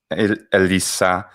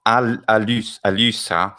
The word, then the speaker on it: Elissa: That's the YouTube address, or you can type it's Elissa, not Alyssa. Elisa. Oh, no. Using the excuse me Latin pronunciation.